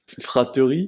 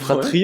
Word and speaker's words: fratrie: fratrie qui ne s'écrit pas avec un E entre le T et le R, Guillaume, Ok. pour information. Fraterie, c'est Ouais. fratrie en fait, Oui, vraiment?